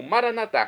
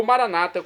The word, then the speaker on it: Maranata: E agora eu clamo Maranatá, como dizemos nós católicos, ou Maranata, como dizem nossos irmãos das comunidades evangélicas ou protestantes. Não importa a pronúncia, o significado é o mesmo.